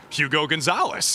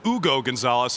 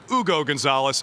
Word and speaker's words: Hugo Gonzalez: as anyone scooped the pick and I see Hugo Gonzalez and I'm like, who's Hugo Gonzalez? Where is this pick coming from? Then I realize that it's actually pronounced Ugo Gonzalez, at least if we're taking Adam Silver's word for it.